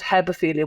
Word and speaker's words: hebephilia: Like, you know, there's pedophilia, but there's also, I think you pronounce it hebephilia, which is an attraction to teenage girls, if you follow me.